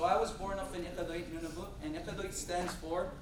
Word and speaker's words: Iqaluit: In Inuit, Iqaluit is pronounced Iqaluit. Can you guys say Iqaluit? If we have any Arabic speakers or an Arabic background, I feel like it's going to come easier to you because we use similar noises in our language.